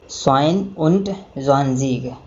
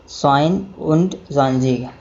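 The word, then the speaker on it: zweiundzwanzig: इस प्रकार 22 को हम प्रोनाउंसिएट करेंगे स्वाइन उंट ज़्वांज़ीग, स्वाइन उंट ज़्वांज़ीग।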